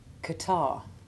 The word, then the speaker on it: catarrh: alien to English and we simply treat the H as being virtually silent. Listen to the following examples. Rhythm, rheostat, rheumatism. Diarrhea, hemorrhage, catarrh.